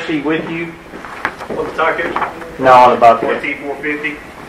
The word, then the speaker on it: Takeuchi: How you pronounce that? Takeuchi.